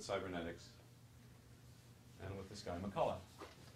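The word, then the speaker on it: McCulloch: And it starts back with cybernetics and with this guy, McCullough. CH is silent.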